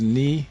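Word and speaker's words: Knii: Ghana his name is Ni lante yeah it's spelled k n i i yeah the K is silent like KN your KN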